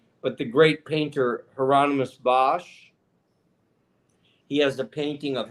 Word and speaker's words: Hieronymus Bosch: Claudia from Germany who says how do you pronounce the guy's name? Hieronymus? Hieronymus Bosch.